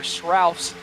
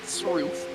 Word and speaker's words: Srouf: And thank you for the pronunciation of Ryder Srouf's name, not Sroof.